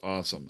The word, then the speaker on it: OSOM: I'm not the best speller in the world, but his awesome is an acronym OSOM. It's just pronounced awesome.